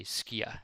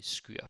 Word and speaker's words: skyr: Maybe someone would say skier. And there's actually a debate in Denmark going on if it's pronounced skyr or skier. But I just say skyr because it's easy to rhyme with other words.